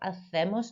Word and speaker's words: hacemos: Los jueves mis amigos y yo hacemos nuestros deberes porque me gusta hacer mis deberes. Again, I mispronounced the word here, hacemos. Remember your C sounds like a th, a th.